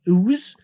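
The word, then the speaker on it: Xuse: from a company called Ooze with an X.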